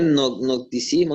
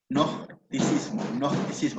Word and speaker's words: gnosticismo: Eso de nocticismo, no lo entendí bien. Así se pronuncia. No. G-N-O, gnosticismo.